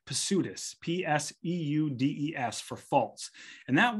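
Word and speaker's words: ψευδής: false Witnesses is p-s-e-u-d-e-s pseudus now if you're pronouncing Greek words well if you're pronouncing English words the p is silent if you are pronouncing Greek words the p is pronounced so it's pursuitous p-s-e-u-d-e-s for false and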